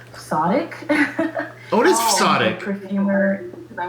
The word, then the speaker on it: Fzotic: If it's Fzotic, I will be impressed.